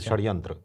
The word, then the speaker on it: षड्यंत्र: क्या बात है और षटकोण वाला जो स होता है सर उसका मिश्रित उच्चारण रहता है जैसे षड्यंत्र षड्यंत्र हा जैसे आधा श और आधा स हां हां इसको तालव्य